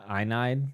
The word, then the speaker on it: Aeneid: I'd like to read the Aeneid, is how you say it, at some point.